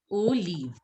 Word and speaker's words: olive: So, olive, how is it pronounced in French? It is pronounced as olive. Olive. Olive. See, like the way you say in English, O. The same way you will say O, and then you will say leave.